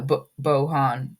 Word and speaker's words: Bojan: Bojan Bogdanovic is injured. Or no, Bohan Bogdanovic. Yeah, I said it right.